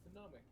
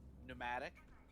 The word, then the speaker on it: pneumatic: Phenomic. Air pressure hit gun. I can never say the word. Pneumatic. Pneumatic, thank you. I hate silent letters.